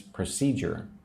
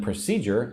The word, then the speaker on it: procedure: And then procedure. Again, three syllables. Again, put the emphasis on number two.